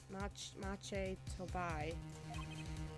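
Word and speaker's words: Machi Tobaye: Pronunciation. Maki Tubui. Machi Tubui. Mache Tobai. Mache Tobai? That's better. Mache Tobai.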